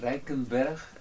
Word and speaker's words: Rijkenberg: In the Dutch you say Rijkenberg. Yeah. It's very Dutch.